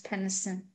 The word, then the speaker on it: Peniston: There's one N. There should be two N's like Pennsylvania if it's a soft E. One N leads you to believe that it's a long E, like other words that start with P-E-N.